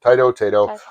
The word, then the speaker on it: Taito: Is it Taito? Taito. I've heard it correctly pronounced both ways.